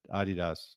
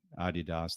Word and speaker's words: Adidas: Adidas, and that's the Adidas brothers. Hey, by the way, I'm very proud of you for actually pronouncing Adidas the way it should be pronounced, not Adidas.